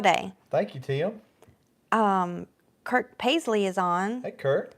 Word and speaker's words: Kirk: spelled like that it's k i r k whatever I wait it's Captain Kirk it's not kurk oh I always thought it Captain KK no it's not kurk anyway good to have